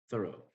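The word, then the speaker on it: Thoreau: Through thorough thorough thorough thorough thorough thorough thorough thorough thorough is modern Thor thorough. Thoro. That's the stress. Apparently, you're supposed to pronounce his name. Thorough.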